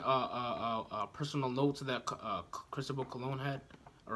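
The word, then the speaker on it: Cristóbal Colón: right there's even a personal notes of that Cristobal cologne hat all right that's how you pronounce his name all right well he couldn't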